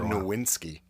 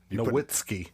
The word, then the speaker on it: Nowitzki: reference yes I do you said his name wrong I've been waiting to say that you said nowinsky Nowitzki there you go he's German yeah but you said you